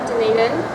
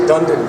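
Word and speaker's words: Dunedin: is Macy I'm from denan um a good Scottish name d didn't I like you already I've been pronouncing it Dundon for ages I like that D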